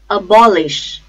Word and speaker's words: abolish: second syllable then abandon abolish abolish bomb ish I repeat a ball ish the stress is on second syllable ball abolish abolish absolute